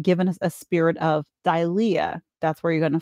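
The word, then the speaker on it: δειλία: The first is dilia, that's how it's pronounced, dilia, meaning timidity, fearfulness, and cowardice.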